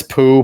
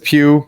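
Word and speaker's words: Pugh: audience to watch him Florence poo po I don't know you say her name PE I called her poo sorry but Florence Pew she's she's on this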